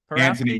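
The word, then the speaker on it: Antoni: Anthony, yes.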